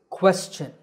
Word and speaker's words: question: correct pronunciation is question the first syllable is made with a k combined with a wha sound by rounding your lips quests the second syllable is chin like your chin so this word is